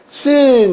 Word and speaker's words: scene: 그럼 요거 SS인데, 그러면 S. 근데 두 개만 하나만 발음한다. 그러니까 요 앞에 건 발음하지 말고 뒤에 것만 발음하게 되면은 scene 이래서 경치, 광경, 이렇게 배경, 이런 것이 다 나오지 않겠습니까?